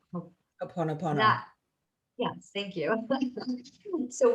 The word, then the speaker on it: Ho'oponopono: She had us say I can't pronounce the word very well, the Hawaiian reconciliation practice, Hopa Hopana, Ho'oponopono.